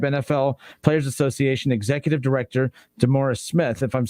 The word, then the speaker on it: DeMaurice Smith: description to describe NFL Players Association Executive Director DeMaurice Smith, if I'm saying his name wrong.